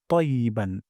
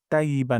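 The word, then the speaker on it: طيبا: এখানে আকারে টান দিব তারপর তাইবান এখানে ত মোটা করে পড়বো যেন তাইয়েবান না হয়ে যায় তাইবান তাইয়েবান তাইয়েবান তারপর মোবারকান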